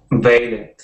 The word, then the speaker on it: valet: It looks like valet. And if it were an English word, that's how we would pronounce it. But it is a French word. Valet is a French word, so we don't pronounce the T on the end. So it's valet.